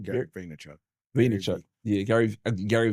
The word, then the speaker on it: Vaynerchuk: Vaynerchuk.